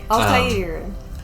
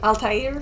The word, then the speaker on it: Altair: Altair or you probably pronounced it correctly because I think Altair? I think it is Arabic. I think so too. But English speakers tend to just say Altair.